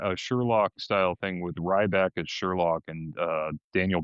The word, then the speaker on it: Ryback: It's pronounced Ryback.